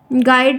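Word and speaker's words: guide: silent है आगे बढ़ गाइड में क्या साइलेंट है गाइड में क्या साइलेंट है गाइड में गाइड जो सेंटेंस दिया गया इसमें वर्ड दिया गया उसमें क्या यू साइलेंट है ठीक है आगे चलो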